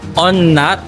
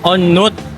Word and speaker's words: On Nut: Akala ko pagbigkas na pangalan ng station is On Nut. Yung pala, On Nut.